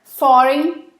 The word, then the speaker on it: foreign: É cheaper foreign labor. Foreign labor. E esse G aqui a gente também não pronuncia, ok?